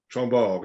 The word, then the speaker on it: Chambord: Chambord, yeah, and the D is silent. You don't pronounce the D at the end.